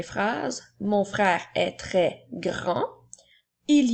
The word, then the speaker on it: grand: Il s'écrit G-R-A-N qui font le son en et la lettre D est une lettre muette. Alors nous avons grand.